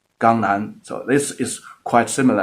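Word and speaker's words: 강남: So in the Korean, the Jiangnan was pronounced as Gangnan.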